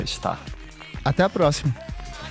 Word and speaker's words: STRR: E também podem me encontrar no Spotify, em qualquer plataforma de streaming, STRR tudo maiúsculo, que se pronuncia Star.